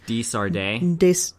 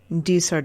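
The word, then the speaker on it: De Sardet: Desardet. Desardet.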